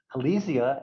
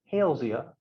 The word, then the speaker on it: Halesia: So this is not Halesia as you pronounce it in Latin. It is Halesea because Hales was the one who described the species.